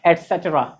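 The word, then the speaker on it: et cetera: लिखने में लिखते हैं ETC, बोलने में ETC कैसा? बोलने में उसका पूरा फॉर्म बोला कीजिए, क्या बोला जाएगा? एटसेट्रा एटसेट्रा एटसेट्रा एटसेट्रा, ऐसे करके हम लोग बोलते हैं ना, एंड सो ऑन, उसी का दूसरा रूप है एटसेट्रा। तो एटसेट्रा बोलेंगे, ना कि ETC बोलेंगे।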